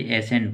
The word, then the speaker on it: assent: एसेंट, इसको भी एसेंट बोलते हैं, इसको भी एसेंट बोलते हैं। इसमें ASSENT है, इसमें ASCENT है, तो थोड़ा चेंज आ गया, लेकिन प्रोनाउंसिएशन सेम है।